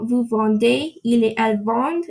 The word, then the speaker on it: vendent: Nous vendons, vous vendez, il et elle vendent. Again, you don't pronounce the ENT.